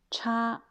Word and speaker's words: 差: C'est cha. Quand c'est cha, premier don, c'est un nom qui veut dire différence.